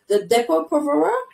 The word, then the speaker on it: Depo-Provera: So the first one that I want to ask you about is the Depo-Provera. Correct me if that pronunciation is correct.